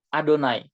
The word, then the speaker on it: YHWH: Orang Ibrani bacanya Adonai.